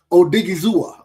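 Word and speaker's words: Odighizuwa: Osa Odigi Zua.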